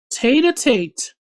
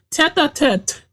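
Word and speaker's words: tête-à-tête: Tater Tate. That's what it says. But if head to, it means head to head? No, it is pronounced tete a tete.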